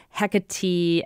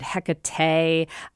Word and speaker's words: Hecate: me just say that I myself kind of switch between pronouncing Hecate and Hecate. I sometimes like going, hey, Hecate. And that's because I grew up in Jersey and sometimes my old regional dialect slips through, just like sometimes I